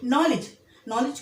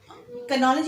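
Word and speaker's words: knowledge: ठीक है, नॉलेज को हम नॉलेज नहीं बोलते लेकिन के लिखते हैं। अब इसमें देखिए नॉलेज में डी भी साइलेंस है मगर डी स्पेलिंग में लिखी जाएगी। डी भी साकिन है, साइलेंस है, लेकिन नॉलेज में तलफ़ुज़ में डी का लफ्ज़ नहीं आ रहा है, ना कई का लफ्ज़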